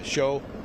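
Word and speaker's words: Shiou: Uh show Deng. D E N G. Yeah, it's pronounced show.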